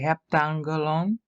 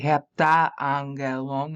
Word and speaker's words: heptangelon: You have to avoid hiatus, you're going to have to say heptangelon. You can't say heptaangelon. That makes you sound drunk.